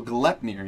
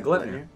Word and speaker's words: Gleipnir: That's an interesting Gilfner? Is that Gleipnir? Interesting Ultra. It's Gutnir. How do you say it? Let me get closer to it. Oh, Gleipnir. Yeah, Gleipnir.